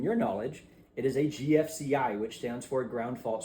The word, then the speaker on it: GFCI: And then the other one that's most common in here is going to be GFI, or GFCI protection is the correct way to say that.